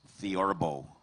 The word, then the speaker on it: theorbo: Your word is theorbo.